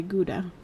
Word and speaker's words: Gouda: pronounce it right, but it's the ga cheese or how cheese gura. They pronounce it I think the h sound as well. Um Yeah, they might I think that's really popular in uh Amsterdam. Yeah. Yeah. Yeah. No, I think I'm in America or North America just say Gouda.